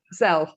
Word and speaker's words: Zelle: the Venmo or PayPal, or how do you pronounce the other one? It's Zelle.